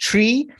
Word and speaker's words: TREA: They say it's pronounced tree, and it's TREA, the TREA, as the guys like